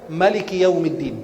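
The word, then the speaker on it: ملك: Ada qiraat kalau di Maroko mereka baca Warash an Nafi', dibacanya Maliki Yaumiddin, tidak pakai Maliki Yaumiddin, tidak ada alifnya.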